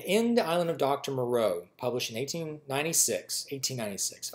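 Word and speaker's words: Moreau: island of do Maro the island of Dr Maro and that's spelled m o r r e auau and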